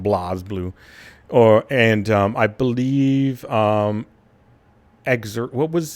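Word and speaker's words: BlazBlue: It was developed by the people that did Blaze Blue or Blaz Blue, if you will. Because apparently that's the correct way to say it, Blaz Blue.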